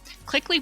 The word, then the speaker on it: Clickly: Clickley, by the way, is spelled with a K.